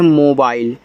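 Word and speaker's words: mobile: एल इसको पढ़ते हैं मोबाइल तो देखो एम से मा ओ से ओ की मात्रा मो इसको बाइल पढ़ते हैं तो ये आपका बाइल हो गया मोबाइल लास्ट वाले इ का उच्चारण नहीं देखो एम ई तो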